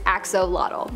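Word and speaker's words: axolotl: the Axel there is much speculation as to how to pronounce the name of this creature but for the most part most people believe that it is axolot but another one that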